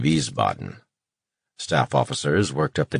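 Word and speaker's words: Wiesbaden: surveying a map table the names of cities would be turly identified and deliberately mispronounced whis boten rather than Vis Boden staff officers worked up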